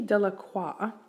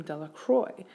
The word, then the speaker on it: Delacroix: meaning so we have Dickie dellacroix but the villagers pronounce the name Delacroix so we can assume that maybe perhaps the villagers don't have a respect for culture right there very anglicized the last name instead of pronouncing it correctly and we'll see how